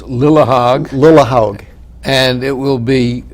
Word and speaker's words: Lillehaug: That lawyer might say, this Justice Lillehaug, whatever the name is, can't really pronounce the name, but the writing is clear. Well, let's make it clear that it's Lillehaug.